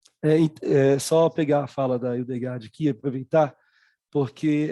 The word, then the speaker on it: Hildegard: Você pode Hildegard, pronunciar?